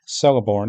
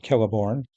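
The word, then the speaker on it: Celeborn: They still say Celiborn instead of Kellibornne and they say Edane instead of Edine.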